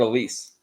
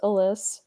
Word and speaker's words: Alys: expert for the Cleveland Guardians let's bring on Elise Elise how you doing I'm good and I'm going to throw you for a loop it's pronounced Alys but I guess get mispronounced all the time